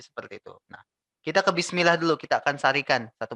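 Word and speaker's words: بسم الله: Di sin ya, kalian harus ditekan ya. Kalian harus melakukan penekanan di huruf sin sukun. Karena ini termasuk sifat dari sin ya. Bis kalian tekan. Ustadz, kalau aku bacanya gini boleh Ustadz? Bismillahirrahmanirrahim. Nggak boleh ya. Bismillah. Bismillah. Ada huruf E kecil tuh kamu kalau membaca seperti itu ya. Bismillah. Itu salah, kurang tepat ya.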